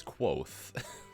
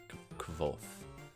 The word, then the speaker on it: Kvothe: In the beginning, where he's like, "My name is Kvothe, pronounced almost the same way as Quoth." No, that I thought it made sense. He said, "Yeah, pronounced," and so when he says it's pronounced almost the same as Quoth, like F and I just called him Quoth for the longest time before I listened to Pat. I think before I listened to the author pronounce his name, and he said Kvothe.